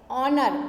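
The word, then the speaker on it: honour: चौथा है एच, ऑनर, ऑनर में एच का उच्चारण नहीं किया गया इसलिए एच साइलेंट है।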